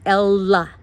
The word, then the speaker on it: Ella: And by the way, G-Man, it's Ella. La. That's how she says it.